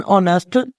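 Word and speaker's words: honest: शुरू हो रहा है एच वावल नहीं है लेकिन क्योंकि हमारे मुंह से पहली आवाज अलफ की आ रही है इसको प्रोनाउंस करते हुए लिहाजा यहां पर हम आर्टिकल एन लगाएंगे एन ऑनेस्ट मैन इसी तरह अब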